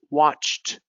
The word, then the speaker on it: watched: Now these ones have a T sound. Finished, watched, attached, checked, helped.